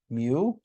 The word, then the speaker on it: mu: between an m and a u and it's pronounced mu so if you're curious to know this is pronounced mu and this is an example we call population